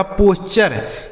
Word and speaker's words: posture: ठीक है, आगे POSTURE, तो PO से दोस्तों हो जाता है पो, यस से हो गया आधा सा, ठीक है। और TURE का उच्चारण क्या हो गया? चर, यह लिखा गया आपका पोस्चर।